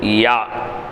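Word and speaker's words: ياء: அடுத்து யா. யா நாவின் நடுப்பாகத்தை மேல்முரசில் சேர்த்து உச்சரிப்பு.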